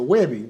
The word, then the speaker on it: Webby: So how can we get a Weebie? Is that possible? Is it a Weebie? It's a Webby.